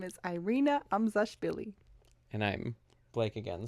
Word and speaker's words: Irina: And if people are not native English speakers, they speak a language where it's easier to roll their R's, then I prefer that they call me Irina, which is the original way it's pronounced.